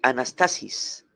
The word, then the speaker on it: anastasis: anas anas Ans t a s i s anastasis anastasis así como se se escribe se pronuncia y este vocablo griego griego anastasis significa literalmente ponerse de pie levantarse una persona